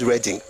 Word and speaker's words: Reading: As a matter of fact, we pronounce it differently. There's reading. I'm reading a book. I'm going to reading.